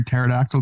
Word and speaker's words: pterodactyl: why can't you hear pterodactyl going to the bathroom because the p is silent no because they're dead